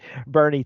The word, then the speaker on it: Boerne: I'm like, that's all I can think of, because I had heard of Bernie, Texas, which is spelled Boerne or something real weird.